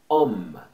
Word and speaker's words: homme: Comme homme. Nesse caso, não pronuncia.